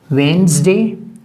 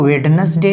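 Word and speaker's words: Wednesday: ठीक है Monday ट्यूजडे वेनसडे इसको वेडनेसडे नहीं प्रोनाउंस किया जाता है वेनसडे ये थर्सडे थर्सडे फ्राइडे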